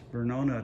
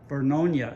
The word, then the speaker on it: Vernonia: parking lot for the trailhead at the Banks Vernonia Trail. Vernonia, excuse me. I knew I'd pronounce that name wrong enough times somebody would fix it.